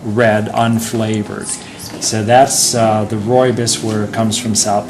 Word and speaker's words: rooibos: R-O-O-I-B-O-S, but it's pronounced rooibos.